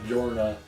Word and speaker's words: Yorna: i'm saying that yeah yorna is correct because i think that's how you pronounce it but i think it's written with a j it's weird because it's translated with a y which albeit that's machine translation so i don't know right but i think it's officially written with a j like it's a j-o-r-n-a but i think you